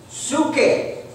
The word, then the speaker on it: psuche: Do you know how the word souls is spelled in Greek? P-S-E-U-C-H-E. Psuche.